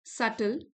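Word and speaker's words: subtle: This सल B silent है।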